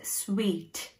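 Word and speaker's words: suite: So, adha suit nu namba sollakudadhu, idanude right pronunciation vandu sweet. S-U-I-T-E-ன்ற spelling இருந்தாலும் இதை நம்ம sweet, சாப்பிட்ற sweet மாதிரி தான் நம்ம இதை வந்து சொல்லணும்.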